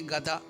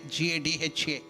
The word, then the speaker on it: gada: We should tell only gada g a da. Don't make a da g a d h a. What will it become? Gadaha. Anybody knows? Gada means donkey. So don't think that Anuman is having a donkey in his hand. So it is G A D A. Gada means mace. Gada not gadha.